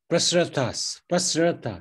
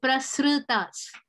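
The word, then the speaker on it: prasṛtās: Adhaschodvam prastas prasratas. Is that prasratas? Okay. The R that comes in the middle, you pronounce it just enough for it to be noticed, not completely. So prasratas.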